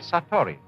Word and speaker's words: Satori: is in Japanese in Zen it is called Satori I'll write that down it's an unfamiliar word